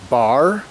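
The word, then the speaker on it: Barre: So, we have made it to and are all set up in our next home, which is Bar Vermont. It's pronounced bar. It's spelled B A R R E.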